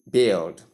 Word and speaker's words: build: call place it's wrong the right pronunciation is build tip the U is silent focus on the short e sound, short e vowel sound.